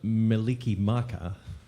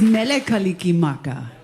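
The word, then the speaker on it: Mele Kalikimaka: Well, we're going to have a little bit of Meliki Maka in our Did I say it right?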